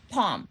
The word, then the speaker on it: Palm: How do you pronounce that? Palm. Palm. So think palm of your hand.